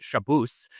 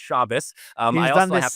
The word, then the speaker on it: Shabbos: would agree, which is we both know my name is not pronounced Shabbos, but for whatever reason Jackson insists on calling me that. It's Shabbos.